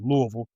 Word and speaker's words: Louisville: Uh you can tell by the way I pronounce it Louisville.